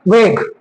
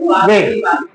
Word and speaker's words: vague: Definition, indefinite pronounce refer to persons और things in अ वेग। वेग की स्पेलिंग ये होती है VAGUE। ये क्या लिखा हुआ है? क्या पढ़ेंगे बात है तो? वेग्यू, वेग, ठीक है, वागी।